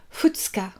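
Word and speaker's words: 二日: On prononce ça futsuka.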